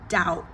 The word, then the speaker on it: doubt: And then the next word, doubt. The B is silent.